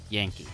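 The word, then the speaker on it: ヤンキー: I looked it up, that's apparently how you say it, Yankee, called the Yoko Michi Silvers?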